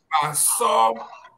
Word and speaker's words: Basaw: Yeah, the name as pronounced in our lingo is Basaw, that is Mr.